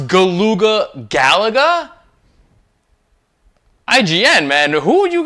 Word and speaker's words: Galuga: am making a big deal about how he pronounced galuga it's very crazy because the first like Mission cutscene Commander Doyle says galuga twice we've confirmed reports they've set up shop